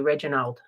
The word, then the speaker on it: Reginald: gonna throw it I I don't even know how to say his name properly Reginald Reginald and Emma why did you have to say Reginal I don't know like